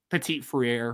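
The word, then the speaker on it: Petit-Frere: pettit how do you say that is it pettit freyr petite freire petite freire ashton craig and zach martin tai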